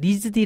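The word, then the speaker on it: RISD: 스쿨 오브 디자인에서 개요 여기는 일명 되게 유명한 리즈 d 라고 게 축약해서 발음을 하는데 데이비드 위즈 너의 학교이기도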